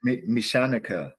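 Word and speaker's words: Mechaniker: So again, if you unsure sometimes, like do the syllables. Mesh. So you push out, you know, your soft ch, and then anica.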